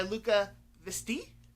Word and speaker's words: Luca Veste: Next is The Bone Keeper by Luca Visti. I looked that up on how to pronounce online, so they gave me a French pronunciation. That's what I'm going with.